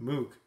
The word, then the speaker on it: Moog: Which is based on a Moog, or Moog, excuse me, because it rhymes with rogue or whatever that debate is all about.